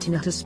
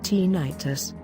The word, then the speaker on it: tinnitus: talking with your doctor tinnitus pronounced tinnitus by most physicians although others pronounce it tinnitus is the perception of